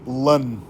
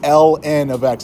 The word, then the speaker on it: ln: be like okay but we say Ln of X like we pronounced the letters therefore because y equals